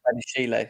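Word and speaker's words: Badiashile: How do you pronounce his name? Badishele? Is it Badishele? Badishele, yeah.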